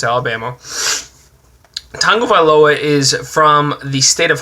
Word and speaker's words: Tagovailoa: I'm going to make sure I pronounce this right. Tagovailoa. I asked an actual Hawaiian on how to pronounce that, so fuck ESPN. Tagovailoa.